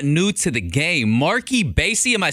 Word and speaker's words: Marc E Bassy: new artist but not new to the game mark ebay see am I saying it right you said it